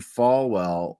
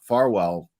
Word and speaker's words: Farwell: up here um the feds discovered that Matthew fwell uh Farwell I keep saying his name wrong uh texted Sandra burchmore over 32,000 times